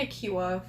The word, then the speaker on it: Ikiwa: Yeah, Agent Ikiwa, for sure. That's definitely how it's pronounced.